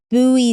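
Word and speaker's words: Bui: He asked, is buoy sushi still a thing in Malibu?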